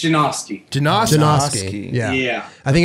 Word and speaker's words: Janoski: It's Janoski.